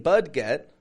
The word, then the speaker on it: budget: it in our budget bu u d g e t I'm not saying budget budget but budget J Budget now that does have an ET ending just like buffet and valet but it's not bud J not for American English speakers we say budget budget we need to